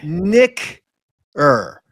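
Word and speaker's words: knicker: Nicker. Nicker. How do you spell it?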